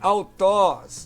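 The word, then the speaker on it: αὐτός: Alfa e Y, como no pronome aqui, autós, né? Autós. Então tem som de U aí, né? O Y no ditongo tem som de U, não é?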